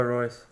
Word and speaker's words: Reus: Marco Royce.